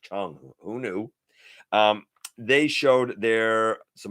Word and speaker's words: Cang: Cang toys, or apparently it's Chung toys. Apparently it's actually pronounced Chung.